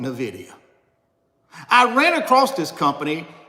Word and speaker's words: Nvidia: called Nvidia well Richard you're pronouncing it wrong it's not Nvidia it's Nvidia I said well I